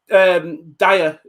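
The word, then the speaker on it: Dia: Both teams gave, I mean, man of the match, I think Dyer, I think it's pronounced Dyer, in it?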